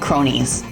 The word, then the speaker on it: Kronii: basically teddy bear clock they're called cronies like you know like the word cronies you know like you know like like criminals thugs cronies but but it's spelled with a K to master name I